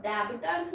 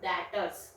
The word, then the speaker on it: debtors: बोलते हैं दातार एक यह बी आई बी टी ओ आर एस है तो debitors भी बोलना इसको इसको बोलना है dators बी इसमें साइलेंट होता है मैन लीजिए